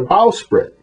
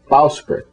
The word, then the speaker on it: bowsprit: referred to as a bowsprit, which rhymes with how sit, bowsprit.